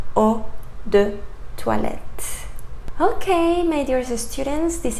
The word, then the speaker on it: eau de toilette: So it comes from the French language, and you should pronounce eau de toilette.